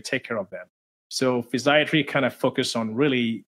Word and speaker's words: physiatry: is it that that you do yeah so physiatry you you pronounce it correctly is U the same as